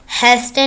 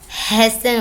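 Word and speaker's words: hasten: हैस्टन नहीं होता, हैसन होता है, जल्दी करना।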